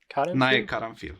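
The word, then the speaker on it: Nae Caranfil: It was directed by how you pronounce it? Nae Karanfil? Nae Karanfil, yes.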